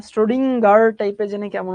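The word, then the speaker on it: Schrödinger: স্টোরিজিং উচ্চারণটা খুবই বিদঘুটে নরমালি আমরা যেরকম বলি স্রডিঞ্জার ঠিক ওরকম না স্ট্রোডিংার টাইপে জেনে কেমন উচ্চারণ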